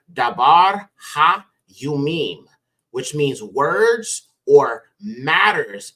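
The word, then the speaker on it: דברי הימים: book is Chronicles okay and Chronicles would be pronounced daar Yim which means words or matters of the days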